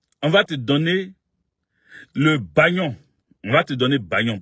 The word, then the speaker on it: Bagnon: Bagnon, ça s'écrit Bo-A-Ba.